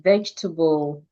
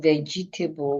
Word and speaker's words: vegetable: Letter E can also be silent in other words like vegetable. Instead of vegetable, we say vegetable. The two E's in the word are silent.